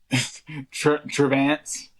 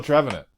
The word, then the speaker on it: Trevenant: Travance. I can never not see that Pokemon. Oh, Trevenant. Yeah. Sorry, I was saying it wrong.